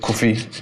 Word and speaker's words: Kofi: But again, pride will have me just say, nah, my name's Kofi. Do you know what I mean? But in Ghana, we'll say Kofi because that's how it's supposed to be pronounced.